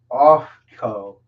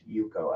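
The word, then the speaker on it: Ufko: we have uh ryan off co off co you you yuko yuko it's pronounced yuko i looked it up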